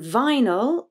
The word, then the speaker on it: vinyl: are vinyl and analysis in vinyl the first syllable is stressed vi but the second is unstressed so the y becomes a schwa no vinyl vinyl with analysis